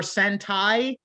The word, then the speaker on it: sentai: So because you have tokusatsu, you have Thank you for sentai, pronouncing it correctly.